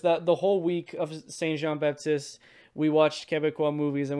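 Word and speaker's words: Saint-Jean-Baptiste: So in June, in Quebec, we celebrate a holiday called Saint Jean Baptiste.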